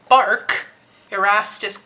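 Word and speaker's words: barque: Keep in mind this is spelled as B A R Q q U u E. This isn't like the bark off of a tree.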